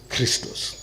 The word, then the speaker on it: Christos: Expiate in Greek is expi-ichtoch, and it is pronounced Christos.